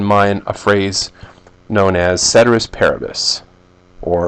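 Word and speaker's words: ceteris paribus: as cedus parabus or if you want a more um literal transl not a translation but a pronunciation of this Latin term kis parabus but I'm not going to do it I'm just going to say cus parabus because that's about all I can handle but it means all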